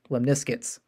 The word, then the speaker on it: lemniscates: And if you're having a hard time pronouncing the word, just think of the word biscuits and then say lemniscates.